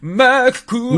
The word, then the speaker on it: Macross: you got to say it like the Japanese opening. Macross.